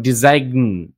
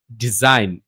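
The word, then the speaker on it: design: এইভাবে আরো আছে যেমন আইজি এন এগুলা যখন একসাথে থাকবে তখন জি এর উচ্চারণ হবে না শুধু ইন এর উচ্চারণটা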